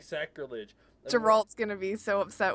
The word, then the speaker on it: Geralt: upset with with you geralt geralt sorry I said his name wrong I've been saying his name right the whole time and not not a hard not Gerald not Jerry the witch is this